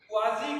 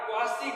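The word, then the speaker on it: quasi: Next है क्वाजी contract या क्वासी contract. देखिए इस कॉन्ट्रैक्ट को दोनों नाम से जानते हैं, कुछ लोग इसको प्रोनाउंस करते हैं क्वासी कॉन्ट्रैक्ट, कुछ उसको क्वाजी कॉन्ट्रैक्ट भी कहते हैं।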